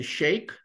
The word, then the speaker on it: sheikh: You tell me if I'm pronouncing this correctly. A sheikh, is that how you pronounce Hey, it?